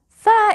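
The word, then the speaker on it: ف: watch the shapes anyway pha is the equivalent of the letter f means a letter one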